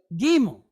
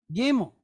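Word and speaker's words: gimel: Which is gimmo. Gimmel.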